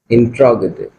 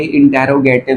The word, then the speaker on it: इंट्रोगेटिव: ठीक है, उसके बाद आता है हमारा इंट्रोगेटिव। अब ये प्रोनाउंसिएशन आप थोड़ा सा नोट कर ले कि ये इंटेरोगेटिव नहीं होता, ये होता है इंट्रोगेटिव।